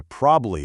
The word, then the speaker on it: probably: the whole word into probably or probably. Deliberately hit all three distinct beats. Prob a bly.